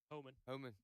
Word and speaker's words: Homan: Is that how you pronounce it? Homan or Homan? Yeah, Homan.